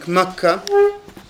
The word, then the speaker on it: Mecca: that he' stayed in Mecca which we pronounce in Arabic mecah he' stayed 10 or